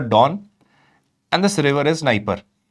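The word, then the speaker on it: Dnieper: And this river is Niper. It is written as D N I, but it is pronounced as Niper.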